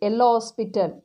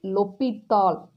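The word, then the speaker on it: L'Hôpital: so using l'hopital's rule he's a french mathematician so you should not pronounce ella hospital you have to say lopital okay using l'hopital's rule we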